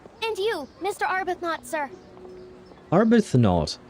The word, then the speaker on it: Arbuthnot: Arbuthnot. Okay, so it doesn't have some kind of strange pronunciation. It is pronounced as it is written, but it's, yeah, never mind.